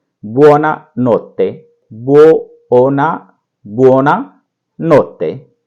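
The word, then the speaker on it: buona notte: बोलते हैं, वो है बुओना नोत्ते, बुओना, बुओना नोत्ते। इसको बोलेंगे बुओना नोत्ते, बुओना नोत्ते। साथ साथ बोलिए और इसकी प्रैक्टिस कीजिए। ये है उच्चारण।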